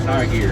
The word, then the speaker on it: Hegari: He liked to grow something called high gear, spelled Hegaria, but it's pronounced high gear.